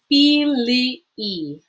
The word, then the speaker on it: filii: a little weird because there's two I's right next to each other. The first I is a short I, the second I is a long I, and you do pronounce them separately. Filii, filii.